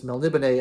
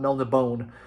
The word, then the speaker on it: Melniboné: And so putting the accent mark over the final E really makes it easier to know that it's Melniboné and not Melniboné, which is very nice for me.